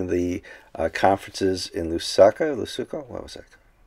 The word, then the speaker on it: Lusaka: invited to one of the uh conferences in lusaka lesoko what was that lusaka yeah my pronunciation sometimes george lusaka and we need to